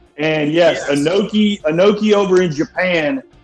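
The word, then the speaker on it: Inoki: 19 Antonio anaki are you familiar with Antonio anaki coach bald yeah it's pronounced an noi and yes an noi an noi over in Japan is about as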